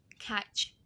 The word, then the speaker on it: catch: dibacanya catch catch catch huruf a di situ kita melafalkannya kayak ada huruf a dan juga e catch catch catch